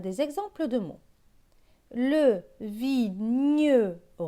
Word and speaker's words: vigneron: Le vigneron. Dans vigneron, on entend bien le son ñ.